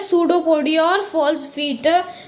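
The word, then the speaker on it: pseudopodia: तो ये जो सूडोपोडिया वर्ड होता है ना, इसमें पी जो होता है वो साइलेंट होता है, मतलब ऐसे वो पिसोडोपोडिया होता है बट उसमें ये जो पी होता है वो साइलेंट होता है।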